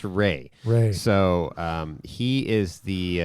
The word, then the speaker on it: Rea: his last name is looks like Ria R E A but it's Ray it's pronounced Ray so um he is